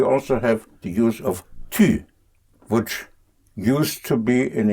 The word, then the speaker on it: tu: The how to use it is very simple, because tu, tu, pronounced tu. Again, you have the u.